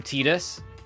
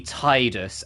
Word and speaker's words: Tidus: in a spin-off and they called him um Tedus and I have forever argued that the game has an extremely heavy focus on water. He plays water sports. He has a water sword. Um, he has water magic predominantly. It was supposed to be Tidus as in Tide as in water tide, not Tedus.